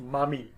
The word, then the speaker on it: Mami: She's referred to also as Belet Ili or Mami, and literally that's how it will be pronounced, Mami.